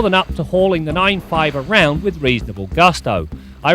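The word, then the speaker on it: 9-5: This week we take a look at the all-new Saab 9.5, and it is pronounced 9.5 and not 95.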